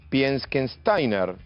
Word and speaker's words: Pieckenstainer: voy a ver si digo bien el apellido piensen steiner a ver me corregirá el ministro de salud